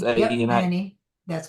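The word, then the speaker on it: Ani: is that pronounced right, Annie, or did I pronounce Annie. Yep. A-N-I? Annie.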